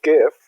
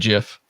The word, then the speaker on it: GIFF: to play excellent and we do love the gift of n we're very look very much looking forward to it and we now know it is pronounced gif not good jiff good yes as some of our geocaching things